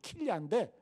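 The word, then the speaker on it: כליה: 그래가지고 히브리 성경 원문을 찾아보니까 이 양심이라는 단어가 킬야, 히브리 발음으로 킬야인데, 이게 무슨 의미가 있냐 하면, 여러분 우리 몸에 보면 장기도 있잖아요. 없어요? 심장이 있고 간도 있잖아요. 근데 이 킬야가 뭐냐면 우리 그 콩팥, 신장을 뜻해요.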